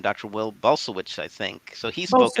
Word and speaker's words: Bulsiewicz: Will Bulsiewicz, I think. So he spoke at ICNM. How is it pronounced? Bulsiewicz.